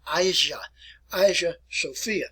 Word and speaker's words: Hagia Sophia: Today it is referred to by this title here, and I'll pronounce it for you as you look at it anyway. It's called the Hagia Sophia.